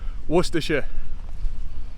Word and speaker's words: Worcestershire: this word just like i do with saying pronunciation so i'll put that up now i'll give you a minute no worcestershire it's the worcestershire beacon it's really not as